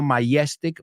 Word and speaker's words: majestic: Let's pronounce that word porque tiene la J que cuesta a muchos alumnos. No majestic, majestic.